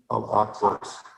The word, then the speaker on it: Al-Aqsa: Yes, if I may, before I vote, I just wanted to say that the pronunciation is Al-Aqsa Islamic Society. I know this because my graduate from college, I was at the school.